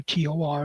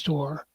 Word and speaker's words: TOR: The first update to TOR, the table of realities, is shortened to TOR, and it's pronounced as a name. The name is TOR.